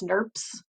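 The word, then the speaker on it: snRNPs: called small nuclear ribonucleoproteins which we abbreviate as snurps that's how you pronounce it here it is um in class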